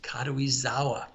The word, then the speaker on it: Karuizawa: this is this resort is called karuizawa i'll spell it for anybody who's interested k-a-r-u-i-z-a-w-a kadui-zawa and this town is where the emperor met